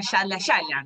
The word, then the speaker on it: Yallah Yallah: Se escribe con YALLAH, que un poco españolizado, castellanizado, sería Yala Yala, ¿no?